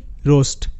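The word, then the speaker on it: roast: তো কোস্ট শব্দের মতো করে ROST, রোস্ট, এখানেও কিন্তু ও এ, ও মানে ওকার হিসেবে উচ্চারিত, এগুলোতে কিন্তু ASTকে আলাদা করে আস্ট আমরা উচ্চারণ করব না।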